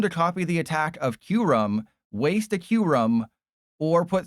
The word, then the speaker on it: Kyurem: Uh that's the correct pronunciation of Kyurem.